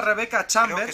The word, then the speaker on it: Rebecca Chambers: mismo año o resident evil zero controlaremos a rebecca chambers se pronuncia así y también a un expresidiario que